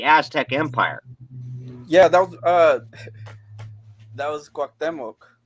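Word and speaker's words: Cuauhtémoc: Yeah, that was Cuauhtemoc. Cuauhtemoc, is that how it's pronounced? Is Cuauhtemoc? Perfect. Cuauhtemoc. Like guac, but quack with a C.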